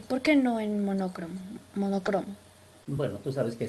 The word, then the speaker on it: monocromo: cro, porque la palabra no es monócromo, la palabra es monocromo. Monocromo. Monocromo es la palabra. Monócromo, no, monócromo es un barbarismo, es incorrecto.